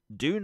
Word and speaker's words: Dune: And that's Dune Awakening or June Awakening. I keep using the American pronunciation of it.